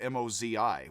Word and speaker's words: Mozi: That is M-O space T-Z-U instead of M-O-Z-I, which is both pronounced Mozi.